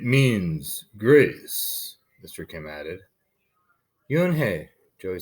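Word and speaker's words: Unhei: then turned to joey slowly nodded yes it's pronounced you and he and in it means grace mr kim added you and hey joey says slowly this time perfectly it made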